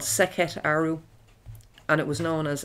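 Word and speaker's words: Sekhet-Aaru: And it was also known, Sekhet Aru means, Sekhet Aru, it's spelled S-E-K-H-E-T and then a hyphen and A-A-R-U.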